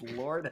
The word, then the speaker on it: Lord: He said Lode and Miller, and it's Lord and Miller.